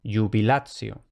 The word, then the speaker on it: jubilatio: Se lee como una especie de Y. Por ejemplo, jubilatio.